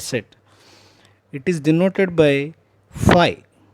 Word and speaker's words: phi: It is denoted by phi. How do you pronounce this?